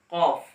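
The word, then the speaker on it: كاف: অর্থাৎ এই জায়গা হবে, এই জায়গা থেকে বরাবর উপরের দিকে লেগে কাফ উচ্চারণ হবে বারিক ভাবে, কাফ।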